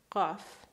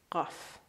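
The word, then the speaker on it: قاف: Now, the second letter, Qaf. Now, pronunciation-wise, please don't try to pronounce it exactly as Iranians because you're going to get a sore throat. Just do your best, okay? It's glottal. Qaf.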